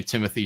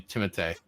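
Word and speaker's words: Timothée: You don't say Timothy Shalomé. It's actually Timote.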